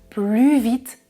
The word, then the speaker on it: plus: C'est un adverbe qui commence par une consonne, donc je ne prononce pas le S du mot plus. Il court plus vite que toi.